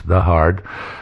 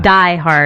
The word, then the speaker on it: Die Hard: For those of you who haven't seen it, German movie 1988 in English, The Hard. That's not how it's pronounced, by the way. Die Hard.